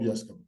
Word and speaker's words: Yescombe: I'm on socials at Yescombe. That's the correct pronunciation.